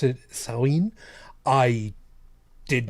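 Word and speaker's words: Samhain: pronounced against maine salween see i i've always pronounced it the way that i had seen it i had that like sam hayne yeah yeah yeah because i didn't i didn't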